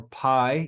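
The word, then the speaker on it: πι: the letter P or Pi you know in English it's it's commonly called Pi but it's really pronounced P so we have P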